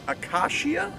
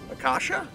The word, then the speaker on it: acacia: third hole of kierland golf club kierland the akashia akasha a-c-a-c-i-a my pronunciation out here in general has not been